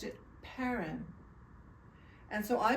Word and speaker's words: Perron: a wonderful man and his name was he pronounced it parin and so I pronounced it parin but everyone who looked at the name pronounced